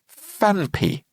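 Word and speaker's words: Phanpy: It's called FanP. Now, it's spelled a little bit peculiarly. It's ph a n py fan.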